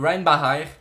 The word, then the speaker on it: Reinbacher: au cinquième choix David Ryan Baker prononcé David rainbower comme Schumacher le conducteur de F1 c'est comme ça que l'on doit le prononcer rien une barrière on